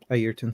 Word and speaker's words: Ayrton: on this Hirsch Ayrton. I think is how you pronounce it. Senna's first name, Ayrton Senna.